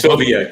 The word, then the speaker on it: Silvia: I think I pronounced your last name wrong in the intro. It's Silvia, right? Not Silvia. Silvia, correct.